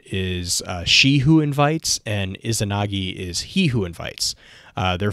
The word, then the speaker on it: Izanagi: Is Izanami and Izanagi, I think is how you pronounce that. The Japanese Izanagi, I think, Izanagi.